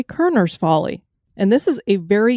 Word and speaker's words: Korner's Folly: people a location that looks like it's pronounced corners folly but it's actually kerner's folly and this is a